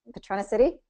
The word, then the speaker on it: Patronicity: Patronicity? Did I say it right? Patronicity. Yep. Patronicity. Okay, I Like can get it now. patron of the city.